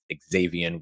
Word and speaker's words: Xavien: a Za VI an according to pronunciation guides xavien will see a little bit more he does go by X though so X valid um 5'1 204 PB